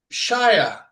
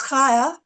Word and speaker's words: Kaya: So I will tag Shire. Did I say it right? Okay, so it's Kaya, but it's okay. Kaya. It's pretty close. Kaya or Kaya, yeah, whichever you want to, whichever's easier. Okay, so I'm going to